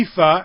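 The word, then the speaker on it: EAFE: so they started their own index called the ephah right and the world index the world index in the ephah the world is x means everybody and the ephah and that's how it's pronounced I didn't make it up EA Fe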